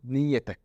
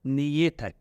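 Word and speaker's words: نيتك: So I will say niyetek. So I will pronounce it as niyetek. Yes, the ta become a normal ta, not a ta marbuta.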